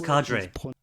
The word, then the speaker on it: cadre: purpose or profession now too many people pronounce this like it was an Italian word but it is not of Italian origin but rather a French origin well I'm not speaking